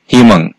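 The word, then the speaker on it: 희망: তিনটা বর্ণের নিচে বসলে উই সমান ই উচ্চারিত হবে সেটা শব্দের শুরুতে হোক বা প্রথম বর্ণের পরে হোক বা শেষে হোক যেখানেই বসুক না কেন যেমন হিমাং এখানে যেহেতু হিউদের নিচে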